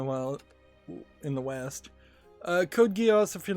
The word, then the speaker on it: Code Geass: shop for Code Geass which was supposed to be pronounced code gas but even I haven't heard anybody with a Japanese accent really pronounce it that way um per particular